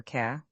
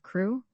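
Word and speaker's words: Crewe: Madame Pascal pronounced it as if it were K instead of crew.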